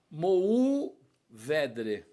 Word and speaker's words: Mourvèdre: Bom, então eu, com esse meu estilo afoito, peguei e fiz uma matéria sobre a Mourvèdre. Eu escrevi Mourvèdre, não Mour.